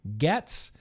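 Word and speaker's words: Gaetz: matt getz in florida at least i think that's how you say his name gets it's g-e-a-t-z matt getz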